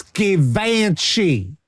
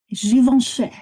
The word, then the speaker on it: Givenchy: It's French. It's spelled Givenchy. Audrey Hepburn used to be the face of Givenchy. It's fucking classy shit. It's Givenchy. Givenchy.